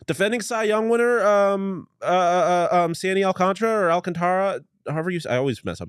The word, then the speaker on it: Alcantara: Defending Cy Young winner, Sandy Alcantara, however I always mess up his last name. Alcantara, yeah. It's spelled Alcantara, but it's pronounced Alcantara.